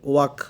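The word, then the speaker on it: walk: ডু ইউ ওয়াক, এখানে WAL এর উচ্চারণ হবে না, কি এর উচ্চারণ হবে? ওয়াক।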